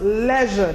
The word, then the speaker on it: leisure: take Nova where this pronounced leisure not Alicia I've heard people say